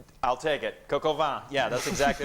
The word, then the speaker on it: coq au vin: What is coca vin? I'll take it. Coq au vin.